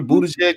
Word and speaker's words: Buttigieg: Is it Peter Buttigieg? Did I say it right?